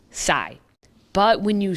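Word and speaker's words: psi: here's the real one the next letter is pronounced sai but when you spell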